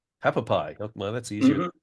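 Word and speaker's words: Hualapai: I'm sorry, I can't pronounce it, but how do you say that? Have a pie. Hapapai.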